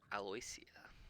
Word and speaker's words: Aloysia: And I am also expressing that, I mean, no matter what Aloysia, is that how we say her name? Her name is Aloysia.